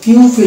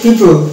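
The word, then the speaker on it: people: হচ্ছে যদি আমরা এটাকে পিউফিল উচ্চারণ করি পিউফিল কিন্তু এটা পিউপিল না এটা হচ্ছে পিউপিল এটা উচ্চারণ হবে পিউপিল পিউপিল এই যে পিপল তার মানে এখানে ও এর উচ্চারণ আসবে না এই জায়গাতে ও কিন্তু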